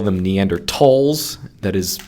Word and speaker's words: Neanderthals: typically they call them neanderthals that is pronouncing the th is a t because it's based on the german pronunciation but i use the